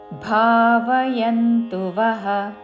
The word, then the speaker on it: భావయన్తః: తే దేవా మూడు దీర్ఘములు భావయంతుವ మహా ప్రాణాక్షము భా భావయంతుವ తే దేవా భావయంతువః పరస్పరం భావయంత పరస్పరం పరస్పరం భావయంత విసర్గ తర్వాత తాలవ్య తో పదము మొదలైనది కాబట్టి తాలవ్య ఉచ్చారణ పరస్పరం భావయంత శ్రేయ పరమవాస్యత